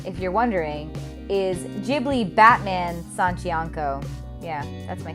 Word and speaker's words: Ghibli: his name doctors video ghibli i mispronounced it because when I was first learning about them I didn't know how to pronounce Japanese words population closing cutie cat